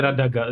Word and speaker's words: Radagast: Já vím, že to je Radagast, je to Radagast, že jo, ale... Jo, ale vyslovuje se to jako dost, ani ještě se vyslovuje jako Radagast.